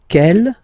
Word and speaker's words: quelle: And then the feminine form is written like that, Q-U-E-L-L-E, but it's pronounced like the masculine form. Quel at the masculine, quel at the feminine. Okay, so it's basically same pronunciation.